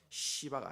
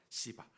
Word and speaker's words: 시바: 이 시바가 아닙니다. 여러분 발음을 조심해야 돼요. 시바입니다. 시바.